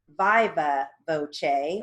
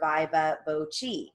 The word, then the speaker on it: viva voce: It also can be pronounced viva voce or viva voce. Just depends on the speaker.